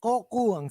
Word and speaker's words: Coco: or Koku? Madali lang. Koku. Parang Koko pero baligtad.